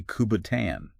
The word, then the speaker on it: kubotan: Speaking of self-defense, one source describes a weapon called a kubotan. Kubotan? I'm not even sure I'm pronouncing that right.